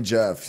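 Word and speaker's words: Geoff: so wait wait wait how does it spelled GE o FF yeah that's Jeff dude yeah you've never seen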